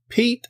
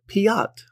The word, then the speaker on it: Piet: about and then the crkt pete or piatt however you like to pronounce it i like to pronounce it piatt because it's oh fancy another third way but i think it's the pete well p-i-e-t it doesn't look like pete to me but hey yeah